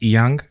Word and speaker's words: Inyang: Technically, it's pronounced Inyang, but there's Inyang.